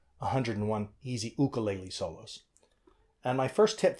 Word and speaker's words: ukulele: ukulele solos or to give it the Hawaiian pronunciation 101 easy ukulele solos and my first tip for playing this